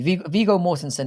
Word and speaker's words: Viggo Mortensen: Viggo Mortensen is like, that's how you pronounce his name, is a very fine performer.